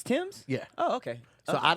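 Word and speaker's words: Tems: is that how you say her name it's tim's yeah oh okay so i don't i don't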